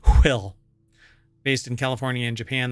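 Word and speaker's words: WHILL: with this but anyway it's wh i l l so it's you have to pronounce it will based in California in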